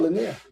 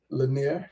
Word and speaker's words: linear: Lener. How do you say it? It's linear. Linear. Lener. Linear. Linear. Lenir. Linear sounds like somebody's leaner than the other person.